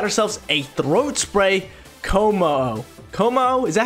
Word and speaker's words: Kommo-o: Kommo-o, is that how you pronounce it? Yeah, Kommo-o right here.